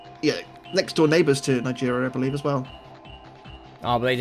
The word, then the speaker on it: Niger: Next up, speaking of a country that sounds very similar to another country, I don't know why I pronounce it Niger, I don't know, but yeah, it's Niger.